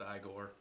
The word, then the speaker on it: Igor: the it was um it's pronounced Igor I don't give a best